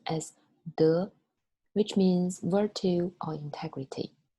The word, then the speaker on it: 德: It's pronounced as 德, which means virtue or integrity.